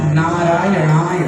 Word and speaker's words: नारायणाय: नारायणाय, केवल नारायणाय, आप नारायणाय को नारायणाय बोल रहे हैं कुछ लोग, नारायणाय नहीं, नारायणाय, नारायणाय, नारायणाय। तो नारायणाय शुद्ध उच्चारण कीजिए, एक बार बोलिए मेरे संग, नारायणाय, नारायणाय नमः।